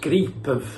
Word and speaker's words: Gripen: No joke it's pronounced Gripen in the helvete.